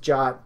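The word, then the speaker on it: JWT: passport and JW key again that's pronounced job JSON web tokens so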